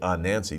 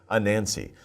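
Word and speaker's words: Anansi: like a jane but no it's don't say ah nancy just say a nancy a nancy the spider is a legend from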